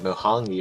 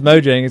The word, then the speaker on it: Mojang: look weird gotcha I thought you said like mongi or whatever I'm just like I I was like that's probably the most different pronunciation I've ever heard it be yeah I knew it was Mojang so I was just reading though because it